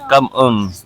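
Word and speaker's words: cảm ơn: sa kanila daw um how you pronounce it is actually come on.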